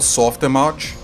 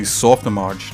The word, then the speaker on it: Softimage: Yes, yeah, exactly, Softimage. That's correct. I normally like to call it Soft Image, but they insist it's pronounced Image.